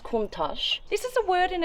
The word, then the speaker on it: Countach: come look at this this is how it's spelled but it's pronounced kontash this is a word